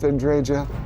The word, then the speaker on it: Andreja: Nothing I care about anyone except Andreja. And yes, that's how they said her name, so that's how I'm saying it.